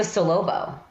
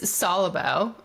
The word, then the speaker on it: Solubo: so wait what does what is a solobo oh it's solubo um it's a I could